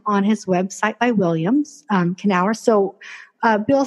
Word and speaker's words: Kenower: His name is William Kenower.